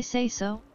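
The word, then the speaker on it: seiso: collect its meal I say so uh say so it's spelled s-e-i-s-o it's lingo that I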